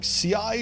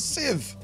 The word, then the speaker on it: sieve: many people don't know how to pronounce sieve they were like CI if I just have to make a see I've what are you talking about have you never been in the kitchen it's a sieve see I've gotta make